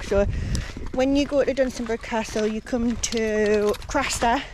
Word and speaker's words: Dunstanburgh: I think I had said Dunstanburgh before, but I think it's Dunstanburgh.